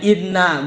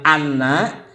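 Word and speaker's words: إنّ: harus dengan dalililnya nah tuksaru dibaca kasrh Hamzah Inna dibacanya Inna bukan Anna waqat jika Inna itu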